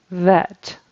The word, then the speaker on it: vet: the BET vet vet that V sound is tricky for some people but it's very different than the B sound I'm hearing a b sound is in bet like I bet on a horse race we want V vet so you need to have that vibration there for the voiced V sound V it's produced the